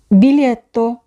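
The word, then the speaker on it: biglietto: তাহলে উচ্চারণ হচ্ছে ভলিজা বিলিত বিলিত টিকেট এখানেও সে একই রকম মাঝখানে আমরা দেখব খেয়াল করে লিখা আছে জি এ তিনটি বর্ণ উচ্চারণ হবে লি এখানে জি উজ্য থাকবে বানীয় বানীয় টয়লেট এখানে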